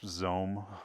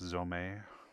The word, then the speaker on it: Zome: in uh and I I've probably mispronounced this Zone before but apparently it's zomei um but otherwise it's